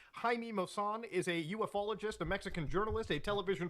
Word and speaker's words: ufologist: in the Extraterrestrial phenomena who say UFO ologist as opposed to having the the esoteric knowledge of the proper pronunciation of ufologist see I am I am a trustworthy authoritative voice here you can trust me because I just showed you I just proved to you on stream live in 1080p that it's pronounced ufologist and I knew that